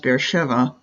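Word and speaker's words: Be'er Sheva: now they spell it be Sheba but it's pronounced beeva it's it's a fairly large city population of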